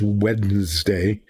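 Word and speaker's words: Wednesday: it correctly you know everybody sends wedes day w n d which it isn't it's wed day because of Wen but um I can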